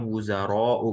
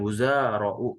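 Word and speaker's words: وزراء: Ya, yang panjang roknya ya, bukan zainya. Jadi bacanya wuzaro'u, bukan wuzaro'u, begitu.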